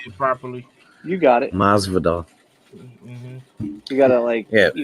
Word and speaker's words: Masvidal: Jorge Masvidal. I don't know how to say it properly. You got it. Masvidal.